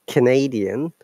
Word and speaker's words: Canadian: And when we are pronouncing Canadian, then diphthong is gone. Once again, look at the phonetic symbol, Canada. Ka, ah sound is there. Then schwa sound, can, da. But Canadian. Now the diphthong has become, you know, schwa